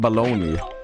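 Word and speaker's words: bologna: It's literally the same as eating baloney. Baloney. This is how it's spelled.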